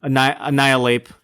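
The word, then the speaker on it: Annihilape: is pretty awesome and is it spelled like annihil ape annihil ape oh yes I see oh that's great and like you just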